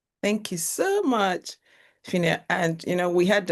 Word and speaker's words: Phinnah: when I learned that that H at the end of her name is actually a mistake. So please tell everyone again how it is pronounced. It's just pronounced fina like like f i